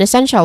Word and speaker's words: essential: Starting with essential, there's three distinct sounds here, starting with S, the first syllable, which is the stressed syllable here, and then followed by sen, which has a short e vowel sound, as well as same with the first syllable, it also has a short e vowel sound, and it ends with shall.